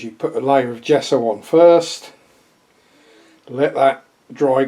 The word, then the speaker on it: gesso: Some clear gesso. Yes, it's pronounced J, but it's spelled G.